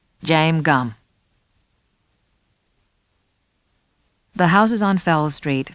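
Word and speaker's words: Jame Gumb: I'd better spell it for you. It's J-A-M-E-G-U-M-B. James Gumm.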